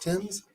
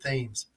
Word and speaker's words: Thames: the only reason that i know themes is pronounced tim's well it's because of all the british shows we watch yeah because for the longest i always pronounce it themes and then i was